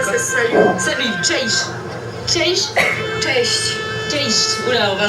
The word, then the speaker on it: Cześć: Ah oui, tu l'as très bien prononcé en Pas mal, hein? Apprends-moi d'autres mots. Dzień dobry pour dire bonjour. Cześć. Ça veut dire Ça, quoi? c'est salut. Salut, cześć. Cześć.